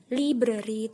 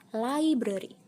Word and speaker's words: library: Library itu kurang tepat ya teman-teman. Seharusnya library.